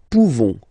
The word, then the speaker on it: pouvons: Okay, nous pouvons. Nous pouvons. Okay, you don't pronounce the final S.